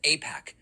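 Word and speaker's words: AIPAC: I I don't even know how it's pronounced. Apac IPAC that is funding this show or other creators.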